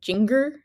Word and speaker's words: Jinger: by her name and pronounce it like ginger but like oh sorry finger with a J like think like Jinger and I just thought